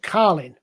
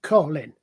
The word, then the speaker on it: Colin: Because she pronounced my name Carlin. Now I do it Colin. And the difference is the middle consonant there, the L in the middle.